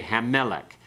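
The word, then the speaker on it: הַמֶּלֶךְ: Okay, Hammelech. You keep the accent on the meh part, okay?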